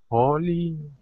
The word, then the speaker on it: holy: Holly. Ah, okay. Mm-hmm. It's very strange. One L is holy. This is holy.